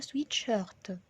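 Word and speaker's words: sweat-shirt: بتختلف طبعا النطق في الفرنسي، يعني بالانجليش بنقول سويت شيرت، بالفرنسي بنقولها سويت شيرت. الار دايما بنطقها ار في الفرنسي زي ما احنا عارفين. سويت شيرت. النطق زي ما هو بالظبط زي ما قلنا، بس بتفرق في الآغ اللي هنا، فبتبقى سويت شيرت.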